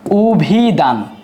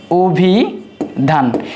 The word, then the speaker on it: অভিধান: উ হওয়ার পেছনে যে কারণটা সেটা হলো শব্দের শুরুতে আছে অ। অ এর পরে যদি রসই থাকে সেই আদ্য এর উচ্চারণটা উকার বা উ এর মত হয়ে থাকে।